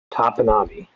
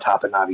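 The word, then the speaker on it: Topinabee: Okay, someone says the pronunciation you're using is correct. Technically, the locals use the modernized pronunciation, but based on native pronunciations, you are correct.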